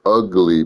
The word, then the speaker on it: Ugali: It's ugly pronounced. Got it. Ugly is pronounced just like ugly.